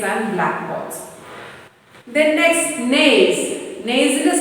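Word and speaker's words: gneiss: to make slaves and black balls the next nays nasal spelling g and e i s s anaginum it will pronounce as names as a metabolic rock formed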